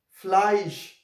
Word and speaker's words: Fleisch: A, E, if they come together, they will produce a sound like I. F, L, A, E, fly. S, sh, Fleisch.